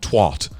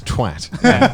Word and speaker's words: twat: They're like, twart. I'm like, it's twat.